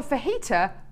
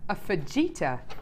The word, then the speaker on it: fajita: the other day who called a fajita a feta isn't that weird I suppose it's because it's spelled it's got J in there but someone Okay so